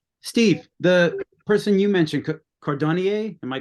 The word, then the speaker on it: Cordonnier: Steve, the person you mentioned, Cordonnier, am I pronouncing that correctly?